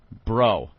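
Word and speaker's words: Breaux: baby And they are last name is like B R E A U X You know how thats pronounced down there bro and he actually said good luck mr.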